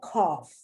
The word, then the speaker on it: cough: uppercase v enough f you see the gh the gh is spelled it's pronounced like an f just like tough just like cough they end in gh